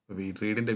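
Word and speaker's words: read: വി ടു ആണ് പറയേണ്ടത് റീഡിന്റെ വി ടു നമ്മൾ ഉച്ചരിക്കുമ്പോൾ റെഡ് എന്നാണ് പറയേണ്ടത് സ്പെല്ലിങ് സെയിം ആണെങ്കിൽ ഇവിടുത്തെ കറക്റ്റ് ആൻസർ എ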